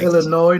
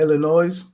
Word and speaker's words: Illinois: illinois winning it all and it's illinois not illinois the s is silent well you can say illinois if you want you're wrong but you can say it hold on